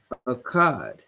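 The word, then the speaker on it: אחד: 1, you would say Akkad. So the number 1 is translated to akkad, right? It's the ah, ka, da, right?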